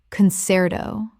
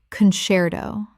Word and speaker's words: concerto: Conserto. Correct pronunciation. Concerto. Three syllables. The C before E makes a CH sound in Italian, which English has kept.